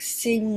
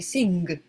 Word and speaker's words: sing: They'll say sing, okay? But we don't actually say the G.